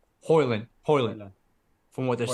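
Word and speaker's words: Højlund: Number two, the kid from Atalanta, how do you pronounce his name? Hoyland.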